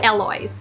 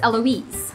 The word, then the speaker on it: Eloise: Or actually, sa States, yung iba pag pronounce nila dito is Eloise. Like, but in French, it's Eloise.